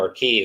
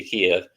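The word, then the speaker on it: Kyiv: bunch of gunfire in kiev right now are key as they're pronouncing it now for some reason used to be kiev but uh it looks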